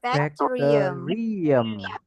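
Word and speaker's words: bacterium: Bakteri kalau satu jadinya adalah bakterium. Bakum bakum bak bakterium. Bakterium. Bakterium. Bakium. Nah, kalauum itu adalah satu bakteri.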